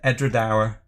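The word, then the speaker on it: Edradour: And Edredauer, they pronounce it as ending like hour.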